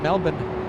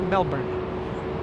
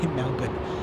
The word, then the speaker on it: Melbourne: flying in from Melbourne that's how the locals say it Melbourne Americans say Melbourne locals in Australia say Melbourne a 13h hour 26-minute